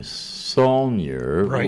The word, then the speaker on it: Saulniers: Phil Show now let me take your name sonier with an S right am I pronouncing it correctly yes why does it have